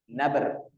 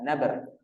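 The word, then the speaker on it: نبر: Maka cara membacanya bagaimana? Dengan memberikan hentakan suara. Ya, disebut dengan bahasa tajwidnya apa? Nabr. Nun. Ya, nabr.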